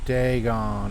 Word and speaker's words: Dagon: Deegon. I've been saying it wrong. Like I was thinking like dragon, but without the R. So I was saying Dagen.